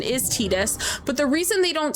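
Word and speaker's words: Tidus: So Tetus in Final Fantasy 10, the correct pronunciation is Tetus.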